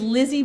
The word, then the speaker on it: Lize: um my name is Lizzy yes that's how my name is spelled and I'm the coordinator